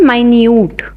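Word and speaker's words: minute: और एक होता है माइन्यूट। ठीक है? देखिए स्पेलिंग सेम है लेकिन इसकी प्रोनाउंसिएशन डिफरेंट है।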